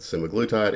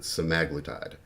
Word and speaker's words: semaglutide: Outlets most people pronounce it semiglutite if you listen to videos of the original researchers they pronounce it semaglitide thank you lost 15